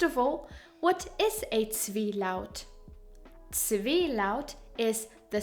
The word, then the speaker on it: Zwielaut: First of all, what is a Zwielaut?